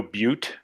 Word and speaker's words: butte: If it was Deadlands, it'd be K-N-O-W-B-U-T-T-E, right? No butte? Yeah. It was Deadlands. But it's pronounced butt. But pronounced like butt.